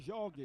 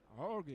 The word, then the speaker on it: Jorge: On s'est mis à l'école portugaise, c'est bien Jorge. Jorge. Ça s'écrit Jorge, mais on lit Jorge, on prononce Jorge.